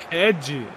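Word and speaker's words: Hedhi: Ed. Red. É H-E-D-H-I. Ed, pô. Ed? É, porque em homenagem ao Ed Murphy e a Bala, tá ligado?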